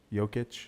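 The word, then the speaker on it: Jokić: Jokic.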